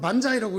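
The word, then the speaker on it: 万歳: 똑같은 만세라고 한자를 써놓고 일본말로는 반자이라고 읽고 중국말로 완스이라고 읽어요.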